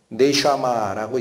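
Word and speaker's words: נשמה: 히브리어로 네슈아마라고 읽히는 단어입니다.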